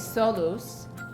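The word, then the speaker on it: ሰሉስ: Tuesday is Solus.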